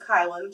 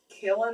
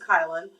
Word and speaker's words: Kylan: y l a n I guess a lot of people thought it was like um Kellin or something I guess because like Dylan but um it's pronounced kylin and uh so yeah